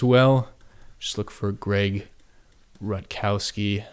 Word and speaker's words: Rutkowski: just look for Greg Rutkowski I believe that's how you pronounce it I think it's ru t ke o w s ki and great stuff I